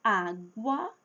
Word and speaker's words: água: Quando eu falo água eu estou dizendo á gu a. O u aqui tem som. Água eu falo a letra u aqui, a vogal u.